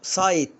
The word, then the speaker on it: site: طب هنا برافو، سايت يعني موقع، وكلكم عارفين كلمة سايت، انا اخش على سايت كذا.